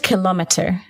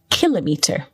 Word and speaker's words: kilometre: So the word kilometre can also be pronounced kilometre in American English, but you and I are British, so we say kilometre.